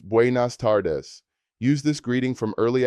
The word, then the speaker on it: buenas tardes: Good afternoon is buenas tardes, pronounced buenas tardes.